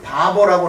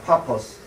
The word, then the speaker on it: 파포스: 자, 그곳에서 복음을 전한 다음에 그리고 구브로의 수도였던 우리 성경에는 바보라고 나오지만은 바보는 아니고 파포스입니다. 파포스. 발음이 파포스인데 옛날 분들이 바보라고 번역을 한 거예요.